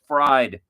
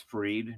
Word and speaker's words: Fried: Mike Trout, Casey Mai, Future Stars, Adalis Gold Cup, and then Max Fried. It's Freed. Don't worry. I know it's Freed, but it sounds funnier if you say it fried.